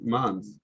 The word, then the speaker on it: months: here when it's our but when it's plural the sound is like this um months you pronounce mods you pronounce like this mods like this it's strange but months the months the